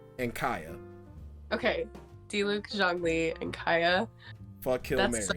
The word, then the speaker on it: Zhongli: and you can literally correct me on the pronunciations. Okay. Diluc, Zhongyi, and Kaya. Okay. Diluc, Zhongli, and Kaya.